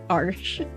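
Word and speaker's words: Arches: made for watercolor paper my favorite is arsh arsh I I learned how to pronounce that arsh so that's my favorite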